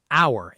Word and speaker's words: hour: This word has a silent h. We say hour, exactly like the word for belonging to us.